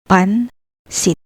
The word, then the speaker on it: pansit: The letters N and S are separate, so read it as pansit, pansit.